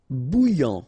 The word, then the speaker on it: bouillant: Bouillant, final T not pronounced. A and together, remember, nasal, en, okay? And then here you get bou, alright? And after that you get this yan, okay?